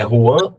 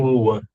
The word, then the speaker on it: Juan: Na verdade é J. É Juan com J.